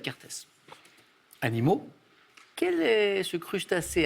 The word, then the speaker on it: Kertész: tu en contrepoint il faut essayer non imre kertész ça s'écrit chaque 1er t es z kertész animaux quel est ce crustacé à forte antennes